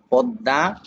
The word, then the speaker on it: পদ্মা: থেকে পরিবর্তন হবে যেমন এক নাম্বারে ম ফলা ম ফলা যে বর্ণের সঙ্গে মিলিত আসবে মাঝে হোক অথবা শেষে হোক সে বর্ণকে দুইবার উচ্চারণ করাবে। যেমন পদ্মা আত্মা গৃসকাল বিশ্বয় তারপরে বলছি অন্তস্থীয়